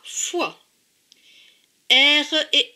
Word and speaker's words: foire: OI, c'est WA. Donc F et WA, FOI. R et E, RE. Donc, ce dernier mot se prononce foire.